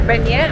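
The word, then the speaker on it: beignet: cafe benite to get another banyan as we learned to pronounce it now and this one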